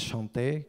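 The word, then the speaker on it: Shanté: Chanté, ça s'écrit, c'est un mot français d'ailleurs, c'est à souligner. Ça se prononce chanter quand elle rappe, mais en fait c'est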